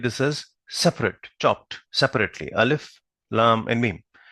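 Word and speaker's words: الم: not read this as alam we'll read this as separate chopped separately alif lam and me will not read this as alam because these are supposed to be read pronounced separately right so right in the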